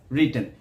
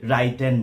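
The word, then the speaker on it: written: হি হ্যাজ রিটেন। অনেকে আমরা এই উচ্চারণটি রাইটেন বলি। রাইটেন হবে না, এটি হবে রিটেন। এর পরবর্তীতে যে ভার্বটি রয়েছে প্রেজেন্ট পার্টিসিপল অফ ভার্ব, যেমন রাইটিং।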